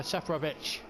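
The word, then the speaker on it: Seferović: Safranic with a golden opportunity from no more than 8 yards out to put the ball into the net, but fires it over. Seferovic. It's the correct pronunciation, I'm told.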